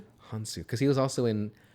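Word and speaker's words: Hounsou: Hansu.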